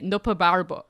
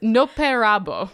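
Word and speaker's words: Nopperabō: NOPA Barbra no no that's not how you pronounce that word hold on oh no sorry I was noting to the idea I mean also in your pronounce it but it's no Perabo basically it's just a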